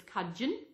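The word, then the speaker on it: Cudgen: How they pronounce Coogin was Cudgeon, and Tugun is Tuggin.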